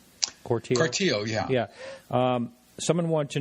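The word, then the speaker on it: Cortile: Corteil? Corteil, yeah.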